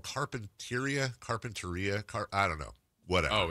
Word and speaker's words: Carpinteria: Is it called Carpinteria? I don't know. Whatever. Oh, it's Carpinteria? No, Carpinteria. Carpinteria. Yeah. So you pronounce it Carpenter and then Ia.